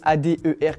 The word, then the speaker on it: Adher: J'ai mis A-D-E-R comme manger et les gens vont prononcer ça Ader.